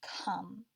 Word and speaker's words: come: talk about this one it looks like it has our long vowel silent e pattern but this is one of those irregular words we're instead of saying oh this is the word come you probably also noticed